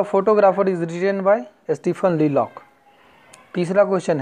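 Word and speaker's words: Leacock: इनके राइटर हैं स्टीफन ली लॉक। Spelling पे ध्यान देना है, LELOC के, दो का सी होगा आंसर, ठीक है, स्टीफन ली लॉक, ठीक।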